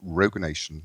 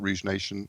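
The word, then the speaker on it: Rogue Nation: copy of Mission Impossible Rog Nation not Rouge Nation on Blue I said it right quite proud did say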